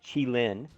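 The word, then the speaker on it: Qilin: new w zed tank and um it is pronounced chi lin and uh i actually did some research on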